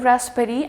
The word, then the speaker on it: raspberry: example of raspberry now in raspberry I'm not going to pronounce this B it is just going